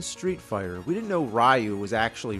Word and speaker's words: Ryu: Yeah, back then, nobody knew how to pronounce the names. It's like in Street Fighter. We didn't know Ryu was actually Ryu.